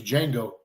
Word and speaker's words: Django: And he says, the name's Django. Yeah. And he's like, spell it. And he's like, D-J-A-N-G-O. And he goes, the D is silent.